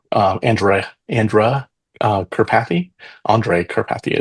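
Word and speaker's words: Andrej Karpathy: And there's a a famous guy uh um uh in the AI space Andrew uh Andra Andra uh Karpathy Andre Karpathy is probably the right pronunciation.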